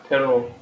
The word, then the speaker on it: Teru: Teru. Yeah. Teru Toyama. Teru. You have to pronounce the U when it comes first.